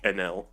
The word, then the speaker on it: Enel: uh takes Goku and in Japanese it's so it's the same emphasis on each cons or on each syllable so nedu would just be NL yeah like it took